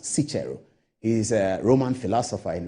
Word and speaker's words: Cicero: a book that is written by sichero or those who call him Cicero but his name that is pronounced sichiro is a Roman philosopher